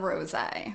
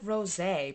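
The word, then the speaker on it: Rosé: If you know the proper way, I've always said rose because it has the little thing over the E. It looks like Rose, but I think her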